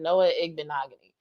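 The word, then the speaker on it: Noah Igbinoghene: ever said the defense Noah ignogony is his name for anybody who's still confused about how to pronounce that Noah ignogany I was like y'all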